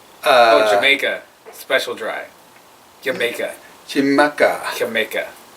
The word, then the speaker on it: Xaymaca: Xaymaca. Jamaica. Because the X, I think, is an SH. Because I remember we went to Ishkaret and it was spelled with an Oh, X. okay. So, Xaymaca.